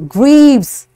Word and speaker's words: grieves: Now you see it's ending on S, but it sounds like Z. Grieves, signs, wrongdoers.